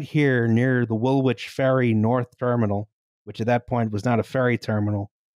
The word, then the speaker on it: Woolwich: Woolwich, you know, by the way. Woolwich. Don't pronounce anything as it's spelled.